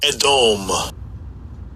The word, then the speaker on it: Edom: I'll give you pronunciation. Strongs. H1 123 Edom Edom.